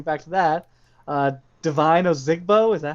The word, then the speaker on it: Ozigbo: that we're getting back to that uh divine ozigbo is that how you say his name yeah